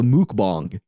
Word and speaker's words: mukbang: a mukbang to it no it's pronounced a mukbang but I do like amusement